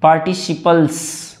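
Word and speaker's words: participles: अब देखो सी के साथ आई आ गया ना, तो स इसको बोल रहे हैं पार्टिसिपल्स। फिर से बोलो पार्टिसिपल्स।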